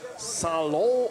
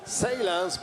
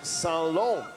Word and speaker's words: Salon: And we also have a French coach here whose name is Christopher Salon, or as he mentioned in English, you could also pronounce his name Salans, but no, he is Salon.